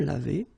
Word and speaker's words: lavés: Nous nous sommes lavés. So remember, final S is not pronounced.